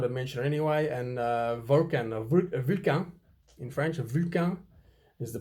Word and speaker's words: Vulcain: In English, you'd say Vulcan. The French say Vulcain.